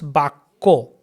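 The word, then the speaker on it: বাক্য: But in Bengali pronunciation it becomes Bakko. Bakko. So Kya, Ya is written. In written Bengali it's written. Ka Jafala, we call Jafala, it's written. But in spoken Bengali we do not pronounce it.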